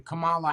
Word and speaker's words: Kamala: she said it the same way I do Kamala Harris oh Kamala Kamala okay it's it's been that way for years and nobody has ever corrected anyone on the news anywhere Kamala wouldn't that need two M's yes k no